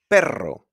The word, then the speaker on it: perro: And also when it's a double R, which is very easy to spot because it's a double R. Like perro. Perro. Be careful, because with just one R is pero, softer, pero, which means but.